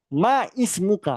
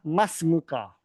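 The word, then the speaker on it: ما اسمك: Ma ismuka atau masmuka sama aja. Tapi yang benar adalah masmuka. Jadi di digabungkan bacanya gitu ya.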